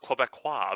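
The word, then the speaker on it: Québécois: First it's pronounced Quebecois.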